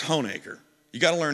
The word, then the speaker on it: Honaker: When I first heard of this place, I thought it was known as Honaker, but it's Honaker.